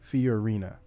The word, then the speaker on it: Fiorina: Fiorina.